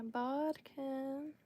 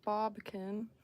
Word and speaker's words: bodkin: Just definitely wish I had my bodkin, which I was pronouncing wrong. I was calling it a bobkin, which I feel like is a thing.